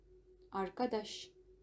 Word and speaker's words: arkadaş: Arkadaş, arkadaş, arkadaş деп күшеніп соңғы буындарды айтып жатырмын. Арaba, анне, айле, айле деп жатқан жоқ, негізі айле деп жатқан. Айле. Яғни соңғы буындарға ударение түседі.